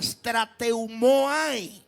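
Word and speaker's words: στρατεύομαι: La palabra que aquí se traduce como militar proviene del griego y tiene una pronunciación un poco extraña, pero se pronunciaría strateumo que significa servir como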